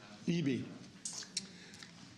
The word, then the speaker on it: Eby: So how do you pronounce the last name? Eby.